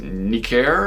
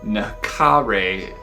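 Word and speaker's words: Necare: of like the uh i guess it's pronounced nicare or something like that this was uh the firebox record label and this was like just they released a lot of really cool doom red records back in the early 2000s this one is from 2004. this was a uh okay here it's it actually says in the back of the city naka ray is how you pronounce it it's latin and it means to kill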